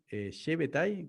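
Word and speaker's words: Shabbetai: eso, A ver, Shebetai Tzvi, Shabbatai Tzvi, yo lo pronuncio Shabbatai. ¿Vos decís Shebetai?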